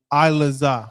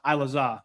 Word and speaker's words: Ilaza: So to the brother's question it was is it Ilaza or Ilatiza? Ilaza. Ilaza.